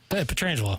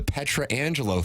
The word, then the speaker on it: Petrangelo: know what's amazing is you actually say his name right most people who are in the business say his name wrong was a thing when he first was drafted for the first number of years the Petra Angelo thing or Peter Angelo oh I haven't heard